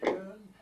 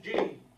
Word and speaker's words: Jeune: People ask me, what is your name? And I say, Jeune. And they look at me and they say, how do you spell that? And I say, Jeune. And they put down Jueune. And they say, your name is Dewey. Are you Mr. Jean?